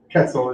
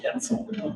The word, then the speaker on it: quetzal: Miss Terry always corrects my pronunciation of it, so I'll probably get it wrong again. Quetzal is what I'm told. Quetzal.